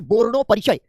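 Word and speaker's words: বর্ণপরিচয়: ठीक है, ये बांग्ला में जब आप आते हैं तो प्रोनाउंसिएशन में हल्का सा आप जो है ओठों को गोल घुमा करके बोलना सीख जाते हैं।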